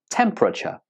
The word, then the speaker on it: temperature: three syllables it's pronounced temperature temperature many students pronounce this word with four syllables but that's not how it's mostly pronounced it's almost always pronounced with just three syllables repeat after me temperature